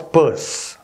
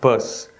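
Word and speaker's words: Peirce: a man called charles purse spelt pierce pronounced purse a turn of the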